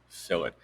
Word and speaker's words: fillet: and it's called a fill it um it's spelled fillet but it's actually pronounced fill it you see that the